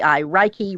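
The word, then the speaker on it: reiki: I pronounced that right it's re EI I Ki raiki R yeah is very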